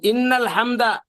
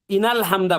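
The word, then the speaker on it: إنَّ الحمد: এই ইন্নাল হামদা এখানে অনেকে ইনাল হামদা পড়েন। ইন্না এখানে নুনের মধ্যে তাসদীদ দিয়ে এখানে গুন্না করেন না, এটা ভুল হয়।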